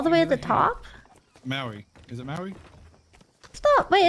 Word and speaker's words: Maui: Maui. Is it Maui? Stop. Wait, is it Maui? Maui. Oh, okay. Am I pronouncing it right? Is it pronounced? You're welcome. Like, is it pronounced like the rock?